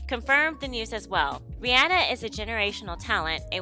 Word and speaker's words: Rihanna: wondering why I'm saying Rihanna instead of Rihanna because Rihanna confirmed that everyone has been saying her name wrong that it's not Rihanna it's Rihanna so get it together people